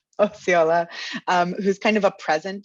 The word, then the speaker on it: Osceola: Can you pronounce her last name for me? Uh, Osceola. Osceola, who's kind of a present day narrator in the film.